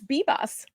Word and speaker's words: Vivas: It's Bebas.